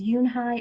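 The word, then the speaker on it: Unhei: Kim then turned to Joey she nodded slowly yes it's pronounced Yoon I'm not even sure if that's Eun Hye or Yoon hae I might be saying it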